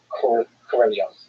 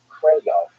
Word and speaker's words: Korolev: how to pronounce Sergei Korolev's name. And I'm still going to say it wrong no matter what. But my understanding, and from listening to native speakers, it's closer to Korolov than it is Korolev.